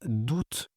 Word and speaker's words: août: Bizarre parce que le mois d'août, on prononce le T, mais les AOiens, on prononce S.